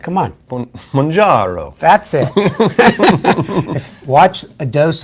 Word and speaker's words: Mounjaro: How do you pronounce it? I say Mounjaro, but like... Come on. Mounjaro.